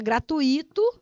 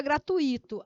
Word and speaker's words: gratuito: a questão da sílabada você falar gratuito ou pessoal bora descer ali para o rango porque hoje é gratuito ai meu deus do